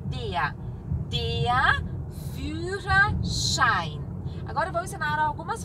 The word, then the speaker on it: Führerschein: Um som de X. Führerschein. E I, som de A, I sempre. E o artigo é der. Der Führerschein.